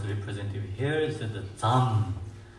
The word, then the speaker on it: Dzam: Here is the Dzam. Dzam, Dzam syllable is Dzam.